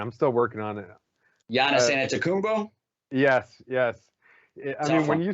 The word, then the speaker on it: Giannis Antetokounmpo: Giannis Antetokounmpo?